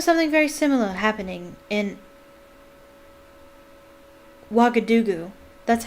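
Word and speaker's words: Ouagadougou: stuffed i remember something very similar happening in wagga dugu that's how you pronounce that wagga dugu turd lockhart a series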